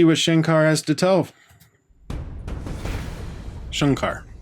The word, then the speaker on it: Shankar: Shankar has to tell Shankar sorry people keep telling me it's Shankar I see an A I pronounce a say I thought that looked